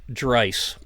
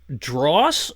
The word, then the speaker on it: Draiss: It's pronounced Dreiss, and the spelling is Draiss. So it's been. We get the telemarketers calling, and they go, "Mr. Dross," and I said, "You have one more chance to at least get it in the ballpark, because there is no way Draiss is pronounced like Drawse or something like that."